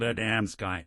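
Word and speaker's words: Adamski: The names you mentioned are well known to us, but you mispronounced them. The first is called Adamsky, the second Genovese, and the third Michalik.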